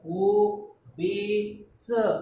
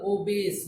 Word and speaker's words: obese: Generally, the E at the end, generally or commonly, many times, not all time, but many times, E which comes at the end of the spelling, we generally don't pronounce it. So we pronounce up to S only. We don't pronounce E.